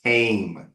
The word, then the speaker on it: came: like M or n he came to my house no came came to my house okay so this is the long a sound I'll say stretch it